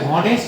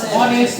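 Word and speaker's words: honest: দেখি তাইলে এই যে আমরা কি এটাকে হনেস্ট বলি অনেস্ট বলি তার মানে এইটা নাই এটা আছে এটা কিভাবে যেহেতু বুঝ নাই এখানে এই সাইলেন্ট আছে আমরা অনেস্ট বলি নাই এইযে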